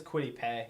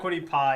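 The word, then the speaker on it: Kwity Paye: to say it right apparently it's quitty pay i don't know it's quitty yeah i was told quite easy it's crazy whatever well adam i don't care yeah it's not quittie pie apparently because people freaked when i said that on a live stream yeah najee harris is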